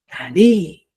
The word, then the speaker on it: ari: Cuando nosotros hablamos del Ari, siempre debemos entender que el Ari es un término que lleva tilde, ¿ya? Y en la última letra o en la última sílaba. Ari, ¿ya? Para afirmar una expresión. No puedo decir Ari, sino siempre voy a decir Ari, ¿ya?